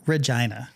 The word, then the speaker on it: Regina: He's from Regina. rhymes with fun.